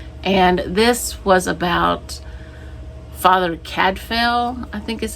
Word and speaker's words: Cadfael: I listened to A Morbid Taste for Bones by Ellis Peters, and this was about Father Cadfael, I think is how you say his name, and he's a priest.